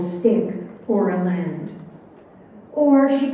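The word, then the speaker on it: stich: lexicon the definition for s-t-i-c-h pronounced stick one in poetry a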